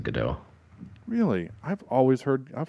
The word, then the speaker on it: Gadot: with a t and it just sounds like it's a soft t yeah but like the